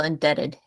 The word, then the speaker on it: indebted: Anyone at all to whom we ought to adore and worship, to whom we ought to feel indebted. Indebted. So B Yeah. is silent.